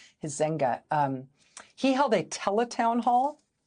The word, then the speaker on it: Huizenga: It's Huizenga, Huizenga.